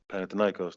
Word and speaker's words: Panathinaikos: So Obviously Bill Self, Roy Williams, and most recently with I may butcher the team name, Panathinaikos. Panathinaikos, that's right.